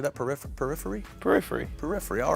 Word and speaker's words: Periphery: Periphery, all right.